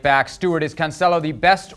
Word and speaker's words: Cancelo: Stewart, is Cancelo the best right back in the league right now?